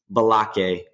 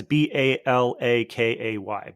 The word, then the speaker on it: Balake: Balake. Balake. Got it. Okay. Yeah. For those listening, that's Balakay.